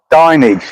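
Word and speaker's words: Dinnage: Is that how you pronounce it? Dinage. Yeah, Fred Dage. Dinage. Dinage. Yeah, that's right.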